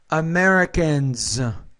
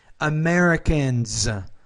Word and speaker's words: Americans: Americans, cultures. So the S, when it's after voiced consonants, it should be pronounced as a Z. Americans, cultures.